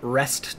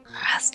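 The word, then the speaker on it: Rhest: I was part of a patrol sweeping up the old Rest Trail," which is, like, Lespin Trail.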